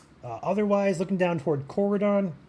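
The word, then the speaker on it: Corydon: Uh otherwise looking down toward Coridon, Coridon or Coridan, another pronunciation there.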